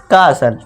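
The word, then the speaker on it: castle: इसे क्या कर देंगे, हम टी को साइलेंट कर देंगे, भूल जाएंगे, तो इसे क्या पढ़ेंगे हम, कासल।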